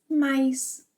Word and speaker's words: mas: This mas, sometimes, depending on the speaker, is pronounced as mais.